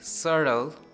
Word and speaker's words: subtle: In BT series, we say subtle, doubt, doubtful debt. Let's proceed next.